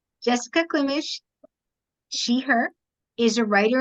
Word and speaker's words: Klimish: Next, we're going to hear from Jessica Klimish. Yes. Is that how you pronounce it? I should have asked you also how to pronounce it. That's correct, though. You got it. Jessica Klimish, she, her, is a